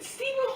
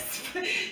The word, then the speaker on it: Sven: She said Steven. Who's Steven? Yeah, I forgot Steven. Not Sven. Sven, that's how you pronounce it? She said Steven. His name is Sven.